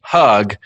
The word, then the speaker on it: Hug: His name is simple, H-U-G, Hugg.